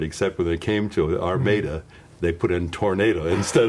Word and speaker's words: Armada: small Michigan farm town, Armada, spelled like Armada, Armada, Michigan, and so a close rhyme, he called me the Armada Tomato.